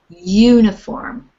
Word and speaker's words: uniform: And in this case, because the U is, the way it's pronounced is uniform, we say a uniform, but not an uniform.